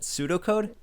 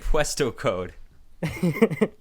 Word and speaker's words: pseudocode: to say something else wait pseudocode pseudo is that how you pronounce it pseudocode you pronounce it pseudo oh wait really we really i did not know that i've always said puesto code let's just start writing